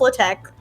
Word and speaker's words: LaTeX: I'm sorry you're right everyone should say latex how it was meant to be pronounced it was meant to be pronounced low-tech the X is is Chi I don't know why